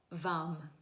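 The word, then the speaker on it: वं: The chant for the sacral is vam. So pronounce it's spelled v am but actually when you chant it it's like v u m v.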